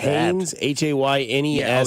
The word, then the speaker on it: Haynes: Hines King, Georgia Tech. That might be my guy right there. Hines King. I like that. Haynes, Haynes King.